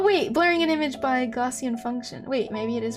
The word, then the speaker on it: Gaussian: says a youtube video gaussian gaussian wow that is that is way different almost the opposite of how i pronounce it besides the and part well no even that i say on rather than n gaussian function is the